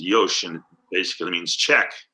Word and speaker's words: yoshi: is a yosh right y-o-s-h-i is how it's spelled but it's pronounced yoshin basically means check right